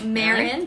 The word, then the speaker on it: Marin: Marin or Marion? Yeah, no, Marin. They put it in brackets, how to pronounce it.